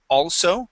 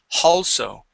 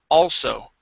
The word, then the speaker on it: also: Uh, you tend to put an h at the beginning of some of the words that start with vowels like also. Here, you would said also, adding an h there. Okay? So, we don't want to add an h., we want to remove the h and say all.